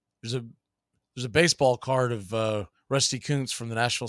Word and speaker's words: Rusty Kuntz: So Rusty Kuntz, as it's pronounced, get your mind out of the gutter, even though we put it there.